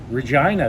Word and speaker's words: Regina: in all of regina regina the city that rhymes with fun and stay till the